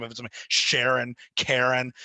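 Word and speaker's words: Charon: Okay, have we heard about the whole thing with the Karens? What is that about anyway? So so apparently you're supposed to pronounce Pluto's moon Karen.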